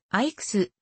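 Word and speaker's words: EICAS: ようになったアイクス icas と読むとは槐に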